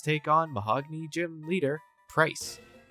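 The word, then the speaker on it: Pryce: So with a few more levels under our belt, let's take on Mahogany Gym leader, Price. Rhymes with ice.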